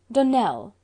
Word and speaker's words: Dunell: Dunell, accent on the last syllable, and St.